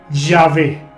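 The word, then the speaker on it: Yahweh: aún con esa actitud los eruditos modernos conjeturan que originalmente se pronunciaba ya juez aunque en estos tiempos en las traducciones modernas de la biblia por ejemplo se escriben ya ve según la tradición judía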